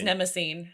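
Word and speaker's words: Mnemosyne: you're totally right nemesis in greek mythology because it's spelled m-n-e-m-o-s-o yeah yeah it is it's it's nemosine yeah that's really cool um i love it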